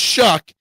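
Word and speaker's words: Shough: It's Show, but it's pronounced Shuck, even though there's no C or K in there.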